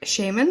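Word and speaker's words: Shaiman: The score is by the duo, Mark Shaman.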